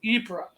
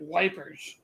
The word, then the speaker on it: Ypres: brits got to the town of ebrah ypres which of course the brits couldn't pronounce so they called it wipers yeah so they got